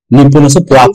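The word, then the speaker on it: にっぽん: নিপন অল্প ব্যবহার হবে নিপন জাপানকে বলে নিপন নিপন আমরা দুইটাই মনে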